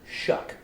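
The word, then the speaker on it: Shough: I hate that Chuck his last name is spelled s-h-o-u-g-h and it's pronounced shuck and then I took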